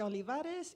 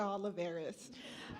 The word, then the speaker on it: Olivarez: hello good afternoon everyone my name is olivarez and if you can't roll your RS it's okay you can call me oliveres uh how do how